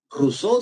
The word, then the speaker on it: Rousseau: Y la última, que es la más chévere, porque el tipo lo va a razonar bien, se llama Jacques Rousseau, ¿verdad? O Rousseau, si quieres pronunciarlo en castellano, ¿no?